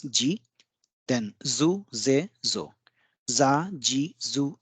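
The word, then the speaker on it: づ: The third line we have da, ji, zu, de, do. Here it should have been do, but it is pronounced as zu.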